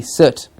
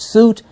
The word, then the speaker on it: soot: After cleaning the chimney, he was covered in, of course, soot, S-O-O-T, soot. Please remember the pronunciation for this. It's not soot, it's soot.